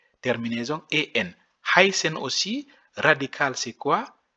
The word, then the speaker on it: heißen: Heißen aussi, radical c'est quoi? H, E, I, S7. Ici, c'est S7. On prononce S7, c'est le double S en allemand.